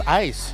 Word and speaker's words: ais: or not oh that oh that's how you pronounce AIS ice ice yeah ice like the ice ice cubes like ice cubes okay that would explain